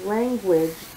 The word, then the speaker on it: language: guilty guide language hm I noticed that with language you actually hear the U in the form of a w additionally there are two